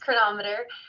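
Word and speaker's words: Cronometer: chronometer um it's spelled like chronometer but it's pronounced chronometer and it's a really great one it is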